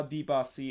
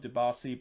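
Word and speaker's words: Dibassy: correct them that yeah this is how you actually pronounce your name not the the way that you kind of start pronouncing so now they kind of kind of start to pronounce it uh d boss c instead of debassi but i guess maybe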